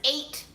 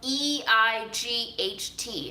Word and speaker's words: eight: spell like drought beers how does eight get spelled e-i-g-h-t how does that even make sense how is eight pronounced the same way as ate how i use like